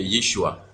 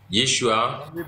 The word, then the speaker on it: Yeshua: comme ça mais la prononciation en aramé c'est Yeshua d la prononciation en aramé et en grec et en